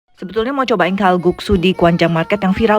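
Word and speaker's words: 칼국수: Sebetulnya mau cobain kalguksu di Gwangjang Market yang viral banget di Netflix, tapi tutup ya udah keseberangnya. Menarik juga, mandunya ditumpuk banyak. Pronounce yang benarnya kalguksu.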